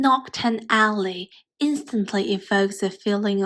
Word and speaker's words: Knockturn: Take Noctton Alley for example. Its pronunciation in British English is identical to nocta, a term used to